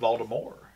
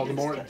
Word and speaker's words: Voldemort: And then she goes, well, technically, I always meant for the T to be silent. And I was like, oh, come on. So when they remake it, Voldemort.